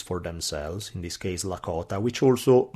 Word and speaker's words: Lakota: themselves, in this case Lakota, which also, depending on the dialect, you could hear it pronounced Dakota or Nakota.